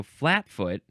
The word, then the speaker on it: flatfoot: Now we have flatfoot. Always so in sense 3. Flatfoot. What is the... Okay, so flatfoot, you're emphasizing the first syllable, I think. And then sometimes you can emphasize the second syllable, flatfoot.